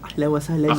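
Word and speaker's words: أهلا وسهلا: Ahlan wa sahlan ya Ramadan.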